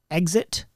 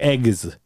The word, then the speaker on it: exit: people pronounce the word exit some people pronounce it with the g yeah like eggs eggs and she loses her and it's funny as poop because it's not exit exit exit exit exit exit yeah